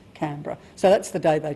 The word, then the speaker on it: Canberra: She stood up and she said on March the 12th, 1913, "This place shall be named Canberra and it will be pronounced Canberra."